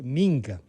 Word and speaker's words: minga: Y usted ha dicho y ha pronunciado como, discúlpeme, yo creo que debe pronunciarse, minga.